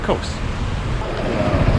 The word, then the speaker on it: Kos: of the town wrong, that it actually wasn't Kos, it was more like Kos, something like that. But when I flew in here a week ago, then the flight attendants pronounced it more like Kos, and so I'm going to stick with Kos.